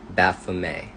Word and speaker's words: Baphomet: Baphomet, that's how you pronounce this entity's name.